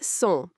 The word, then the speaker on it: sont: Sont equals sont. Don't pronounce the T.